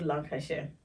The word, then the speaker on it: Lancashire: Airport and took a 1our car ride into Lancashire I probably didn't pronounce that well yeah that's correct Lan lash